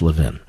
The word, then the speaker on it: Levin: It's Levin, but thank you, sir. We appreciate it. In Philadelphia, it's pronounced Levin.